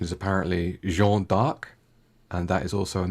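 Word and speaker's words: Jeanne d'Arc: do number two next the name joanna dark was taken from the french pronunciation of joan of arc pronunciation is apparently jean-dark and that is also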